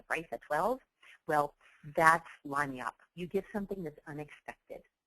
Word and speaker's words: lagniappe: Or no, what your staff will say is, what is yappy? It's actually a French word pronounced lagniappe. It's a Creole word, and it means a little something extra.